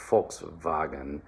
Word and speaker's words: Volkswagen: pretty easy just uh remember that it is in german in english it's volkswagen and in german it's volkswagen all right so that v becomes an f unvoiced all right and